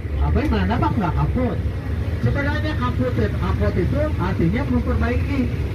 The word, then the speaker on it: kapot: K-A-P-O-O-T, kaput. Harusnya bahasa Belandanya kapot. Karena kalau Belanda itu konsisten, double otek, oh bacanya.